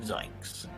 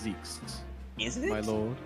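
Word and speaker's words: Zieks: now that sounds great terrible yes prosecutor van zynks it's pronounced zekes it's like if it looks like it's based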